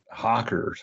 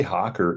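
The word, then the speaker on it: Hocker: hacker hardware and uh h-o-c-k and I say Hawker and she gets mad and says I'm saying it wrong I don't know how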